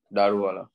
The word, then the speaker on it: Daruvala: What is the correct way to pronounce it? Daruvala.